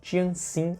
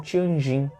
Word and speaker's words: Tianjin: tratado desigual retratado que é chamado tratado de tientsin ou tianjin depende da pronúncia esse tratado ele obrigava a china a